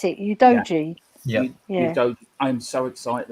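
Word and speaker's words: Udogie: Is that how you pronounce it? Udoji.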